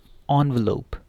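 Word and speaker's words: envelope: ठीक है, इसको क्या पढ़ना है, ऑनवेलोप, ऑनवेलोप या एनवेलोप। ठीक है, एनवेलोप भी ठीक है और ऑनवेलोप भी, लेकिन एनवेलप नहीं ठीक।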